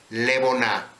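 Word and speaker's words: לבונה: haber luz el incienso los hebreos le llamaban leonar y escuché como Cómo está escrito vea cómo está escrito y Cómo se pronuncia levona los griegos le llamaban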